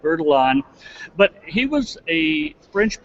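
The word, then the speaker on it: Bertillon: who don't know beron some folks pronounce it bitian I prefer the more true French pronunciation although I don't speak a word of French so I call it veralon but he was a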